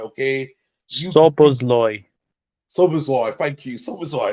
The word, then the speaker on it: Szoboszlai: I'm trying to get the pronunciations right. Okay, Szoboszlai. Szoboszlai. Thank you, Szoboszlai.